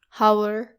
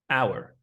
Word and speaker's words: hour: They say it like how. The H should be silent and there's no O sound. It should be our hour, which by the way rhymes with sour and also flower.